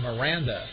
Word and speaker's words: Miranda: and at second base is number 10 Sergio Miranda m i r a n d batting third